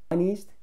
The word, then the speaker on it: honest: On Deacon's, Deacon의 Honest, H가 소리가 안 납니다.